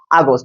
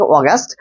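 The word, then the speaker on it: August: আগস্ট বলতে তুমি ইংরেজি বছরের একটি মাসকে বোঝো, যেরকম সেপ্টেম্বর, অক্টোবর, এরকম ইংরেজি বছরে অষ্টম মাস, এটা হচ্ছে গিয়ে আগস্ট। যদি এর সঠিক উচ্চারণটা হচ্ছে অগাস্ট।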